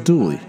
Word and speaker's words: Dula: His real name was Tom Dula, but the local pronunciation was Dooley.